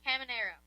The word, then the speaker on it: Caminero: How do you pronounce the last name? Camino? Who? Junior Caminero.